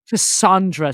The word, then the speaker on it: Cassandra: Okay, speaking of sexuality, so this is the first time Cassandra sees. She says in the beginning, she's like, it's pronounced like son, not sand.